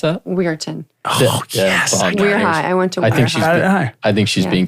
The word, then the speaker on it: Weirton: her hometown my childhood but how do you pronounce that we areton yes I think she's being kind to you